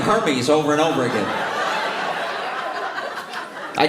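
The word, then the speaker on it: Hermès: It's pronounced Hermes. Oh, this is what happens with poor people try to pronounce. This is what happens when one of the poorest puts luxury in his mouth.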